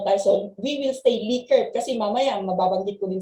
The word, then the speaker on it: Likert: Okay, yung Likert is, how do we pronounce it, ma'am? Likert siya, ma'am, Likert.